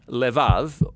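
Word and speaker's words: לבב: this prayer heart which in Hebrew is sometimes pronounced levav or more often in a shorter form L now different cultures throughout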